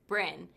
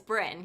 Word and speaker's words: Bryn: Japanese but he goes how do you say your first name I go Bren he goes really and I go yeah it's Bren he goes go Brin